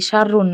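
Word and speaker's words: شر: বাতাস দেওয়া যাবে নাকিন শাররুন মানে ক্ষতি শাররুন মানে ক্ষতি এখানে কোন টান নাই ঠিক আছে ঠিক আছে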